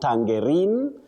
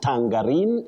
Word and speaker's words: tangerine: You say tangerine. Not tangerine. Not tangarin. It's tangerine.